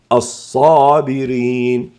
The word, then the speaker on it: الصابرين: مثال آخر الصابرين، اجتمعت في الصاد صفة الاستعلاء والإطباق لأن الصاد حرف استعلاء وإطباق، بالإضافة إلى الفتح بالإضافة إلى الآ، فتفخم وننطقها الصابرين.